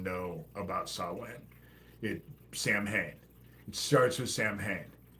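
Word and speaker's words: Samhain: with Halloween yes I again I know it's pronounced saw win but most people don't even know about saw win it Sam hay it starts with Sam hay and in my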